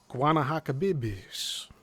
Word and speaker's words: Guanahacabibes: Peninsula Guana Hakabibis. No, I am not pronouncing that correctly. The peninsula's name is spelled Guanahacabibes. Guanahacabibes.